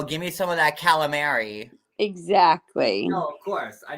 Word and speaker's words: calamari: But if you go to Italy and you ask them for galamad, they wouldn't have a clue what you want. That's true. So if you go to Italy, you pronounce the full thing. It's calamari.